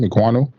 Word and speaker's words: Ekwonu: Ekwonu. Yeah. How do you pronounce his name? Ekwonu.